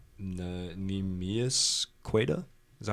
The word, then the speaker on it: Queta: Neemias Queta? Is that how you say it? It's Queta.